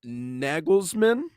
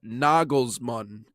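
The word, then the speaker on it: Nagelsmann: Uh Julian Naglesman, I believe is uh Nagglesman is how you pronounce that.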